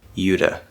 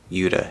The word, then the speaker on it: Utah: about y here but that is a possibility utah or utah uda utah same thing okay point is is that